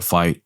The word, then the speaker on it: FITE: So make sure you guys go support and watch the fight on Fight TV, and that's spelled FITE. TV.